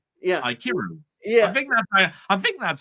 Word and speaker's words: Ikiru: So you in other words, you pronounce the I and then it's Kiru. Kiru. Kiru. Yeah. Aikiru.